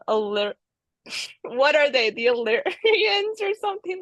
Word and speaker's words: Illyrian: The Illyrians or something like that?